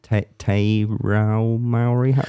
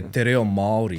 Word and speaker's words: Te reo Māori: Te Rao Maori? Oh, yeah. Te reo Māori.